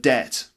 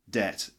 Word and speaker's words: debt: 37 is the word debt debt it's got a silent B as well that's debt look at